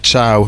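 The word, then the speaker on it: Thiaw: Alan from Heartleyool wants to know why we call Malik Chow. Malik Chow because that's his name even though it's spelled T H I A W. That is how it's pronounced.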